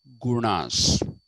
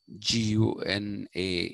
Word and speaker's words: guna: about how people have gurnas g-u-n-a in english but not guna it is gurna okay how people have